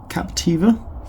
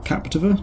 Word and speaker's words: Captiva: recent release which is called Captiva or Captiva depending on how you want to pronounce that and it's a